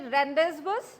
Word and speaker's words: rendezvous: we pronounce this word do you call this to be Rendezvous No it should be pronounced as rendezvous rendezvous is nothing but